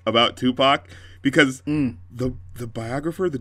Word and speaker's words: Tupac: it's pronounced yeah EXA it would be like Tupac or something like that it wouldn't be tup pack I thought you were